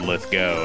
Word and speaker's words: Lithgow: I thought I've heard him say it once, and he said Lithgow, and I was like, oh, whoa, I would have said Lithgow. That's how you say it.